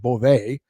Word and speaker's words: Boisvert: It's spelled Boisvert, but I believe it is pronounced Beauvais.